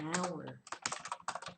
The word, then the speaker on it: hour: consonant isn't it but H is a consonant but it's silent in this word so it's an hour and honest name and